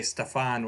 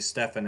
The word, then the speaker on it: Stefan: I keep wanting to say Stefan, which is how I pronounced it back in the day when I first started reading his name, and it's actually Stefan, if I remember correctly.